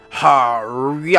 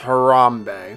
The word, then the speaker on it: Harambe: a sec quite alright mr. Hari I'm it's pronounced Harambee yeah sorry to say